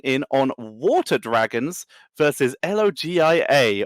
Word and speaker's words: LOGIA: We're going to be jumping in on Water Dragons versus L.O.G.I.A. or Logia? Logia? How do you want to pronounce that? Yeah, I'm going to go for L.O.G.I.A there. Logia it is.